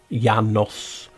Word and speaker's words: Janus: But as you know, Janus is pronounced Janos. Janos is Janus.